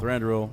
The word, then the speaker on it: Thranduil: Thranduil. Thranduil.